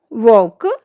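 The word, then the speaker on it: walk: जब एल के बाद ए ओ यू के साथ एफ डी के एम आई तो एल जो हमारा है, एल लेटर जो हमारा वो साइलेंट हो जाता है।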